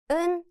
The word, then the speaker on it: 은: When used as a 받침 at the end, the 지읒 sound disappears and it just sounds like 은, similar to the N sound in English.